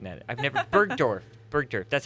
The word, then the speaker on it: Bergdorf: Goodman I think I'm saying that I've never Bergdorf Bergdorf that's how you say it unveiled their